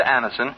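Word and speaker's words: Anacin: dentist thousands of people have been introduced to Anison this way try Anison yourself the next time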